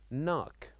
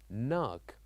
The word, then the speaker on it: knock: silent also this word knock knock so here also we wrote k n o c k so here we wrote the letter K but we don't pronounce it we say knock knock also one other example